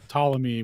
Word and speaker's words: Ptolemy: Now, if you say it around Witsit, he'll act like it's supposed to be a certain way, but he pronounces Ptolemy without the P, so that's kind of weird.